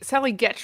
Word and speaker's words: Getch: I think Sally Getch rhymes with sketch put a reply to this in our Slack group that I thought was very well said.